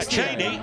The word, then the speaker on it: Chaney: And yeah, Chaney, spelled a different way. I think Dick Chaney was C-H-E-N-E-Y, but pronounced the same, obviously.